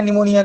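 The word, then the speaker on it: pneumoniae: है, strepto bacteria है निमोनिया का, स्ट्रेप्टोकोकस, स्ट्रेप्टोकोकस, स्ट्रेप्टोकोकस पूरा नाम हो गया निमोनी। निमोनी में पी साइलेंट होता है, निमोनिया, निमोनी। ठीक है, स्ट्रेप्टोकोकस निमोनी।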